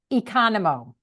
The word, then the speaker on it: Economou: last name how do you say that it's Econo so it's go ahead so my ex-husband is